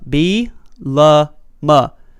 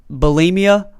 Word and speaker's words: Bielema: The first thing is how to pronounce his name, Brett Bielema. Bielema. If you hear it, bulimia, there's a bunch of different, Bielema, a bunch